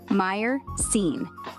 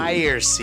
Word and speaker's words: myrcene: Meyer-cene. Sounds like myrcene. Myercene.